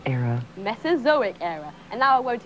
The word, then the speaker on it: Mesozoic: Here, it tells you what it is, but best of all, it'll also tell you how to pronounce it. Mesozoic era. Mesozoic era.